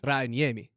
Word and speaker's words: Rantanen: Can you pronounce it correctly in Finland? Rantanen. Whoa! Rantanen. All right, give me a Spring in all your culture. Give me the correct pronunciation of Mikko's last name. I mean, I assume the correct pronunciation is probably Rantanen, but I say Rantanen.